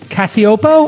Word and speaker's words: Cacioppo: I thought I would bring Christina Cacioppo. I pronounced it correct.